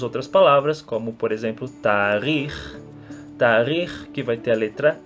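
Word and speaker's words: תאריך: Temos outras palavras, como por exemplo tarikh, que vai ter a letra Raf, então nós pronunciamos com o som de H e não K, porque ela está no final da palavra, assim como a palavra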